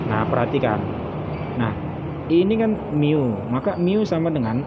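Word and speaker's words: μ: Ini dibaca mu. Nah, bacanya mu.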